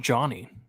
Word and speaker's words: Dani: Oh, his name's pronounced Johnny. That's weird. He just said his name. His name's pronounced Johnny Barbier. How the hell? How the hell do you get Johnny from Dani?